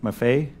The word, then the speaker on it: Maffei: chairman and two is it properly and forgive me for asking it is properly pronouncements from a fight Maffei it rhymes with buffet so if they think